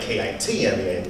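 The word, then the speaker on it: Keman: Yeah, so my name is spelled K-E-M-A-N, but you say it like K-I-T-M-A-N, kind of like a Kit Kat bar, Kitman.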